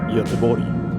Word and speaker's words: Göteborg: we finally arrive in Gothenburg, or as we Swedes pronounce it, Göteborg.